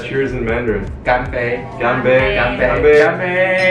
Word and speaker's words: 干杯: 干杯，干杯，干杯干杯，干杯。